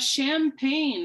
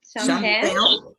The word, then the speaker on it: champagne: And number 3, you have champagne. Do you want to try pronunciation? Champagne. F. Champagne? Champagne. Pain. You really hear the A sound.